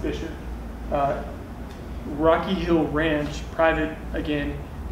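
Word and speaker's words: Buescher: But we're Bastrop State Park, and Bisher is spelled Buscher, by the way, it's German. So I'm talking about Buscher State Park, have you seen that written down? Pronounced Bisher.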